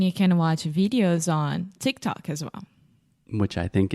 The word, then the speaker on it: TikTok: in Portuguese Tick Tock how do you say tiktok much more difficult chikitaki it's not just adding extra sounds everywhere tick tock Tick Tock yes so here tick tock Tick Tock yeah so an interesting thing in the talk Tick Tock ah yeah that's like a an ah sound just like product yeah tick tock tick